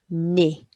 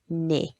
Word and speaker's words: nez: So if it ends in EZ, it's E, so it's un nez, un nez.